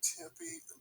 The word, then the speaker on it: Tempe: I just wanted to point out that that same place, you say, is it pronounced Tempe? Yeah, Tempe, Arizona. Okay, in Tempe, Arizona, I sent it to you and DJ.